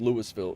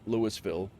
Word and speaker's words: Louisville: My hometown is pronounced Lewisville. Uh, is pronounced Lewisville but spelled Louisville.